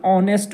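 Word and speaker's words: honest: यहां पे आप समझिए इसका प्रोनंसिएशन ऑनेस्ट होता है एच है एच इसमें साइलेंट है तो यहां एच से हो का अंदाजा नहीं करना है इसके उच्चारण की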